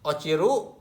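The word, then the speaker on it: 落ちる: Bacanya o ciru, ini jatuh, atau o ro otosu, otosu menjatuhkan. Ochiru jatuh, otosu menjatuhkan.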